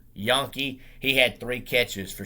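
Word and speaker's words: Janke: their leading receiver jackson it's spelt j-a-n-k-e but it's pronounced yankee he had three catches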